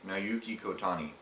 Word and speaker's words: Naoki Kotani: Naoki Kotani.